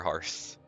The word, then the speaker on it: Hearth: Timber Hearth. Hearth makes sense to me because it's like Earth with an H.